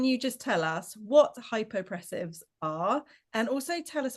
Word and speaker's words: Hypopressives: And she's going to be talking about something that I'm going to have to try really hard to pronounce. Correct me if I'm wrong here, Nikki. Hypopressives.